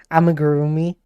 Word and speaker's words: amigurumi: Amigurumi. Yeah, I don't think he said it right. Amigurumi.